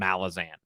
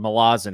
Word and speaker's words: Malazan: there red rising and malazan or malazin if i want to pronounce it correctly um the answer is